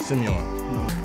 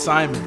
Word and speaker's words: Simon: Simeon. No. It's Simon.